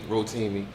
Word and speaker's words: Rotimi: I always pronounce his name wrong? You say it right, Rotimi? Rotimi.